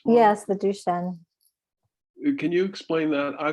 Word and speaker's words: Duchenne: i think and what your closet did you pronounce it did the shins yes the duchenne can you explain that i thought because i